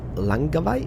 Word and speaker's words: Langkawi: And we went to a place called, I know Malaysian people kind of laugh at me because I'm gonna mispronounce it totally, but it's called Langkawi.